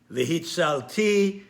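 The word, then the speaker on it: וְהִצַּלְתִּי: The ta'am, the trope on all of these words is always on the last syllable of the word. The pronunciation is always on the last syllable. So, therefore, they are pronounced Vega'alti, V'hitzalti, V'hotzeti, V'lakahti, V'heveti. The emphasis is always on the last syllable, and this is called milera.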